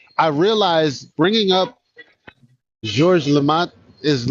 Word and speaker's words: Georges Lemaitre: Georges Lemaitre.